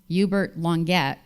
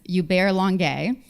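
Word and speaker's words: Hubert Languet: Heroes you bear long I've been pronouncing him yubert longette for about 10 years but I learned from Google that is Yar longay the Diplomat for the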